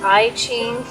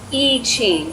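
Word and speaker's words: I Ching: more correct pronunciation is e ching the i is an e sound so just so you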